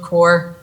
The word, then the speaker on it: Corps: So it's Summit Lake Build Corps, and the S is silent.